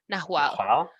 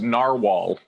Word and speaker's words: Nahual: It's Nahual. Yeah. It looks. Guys, it's pronounced narwhal. Like. No, it's a Spanish word.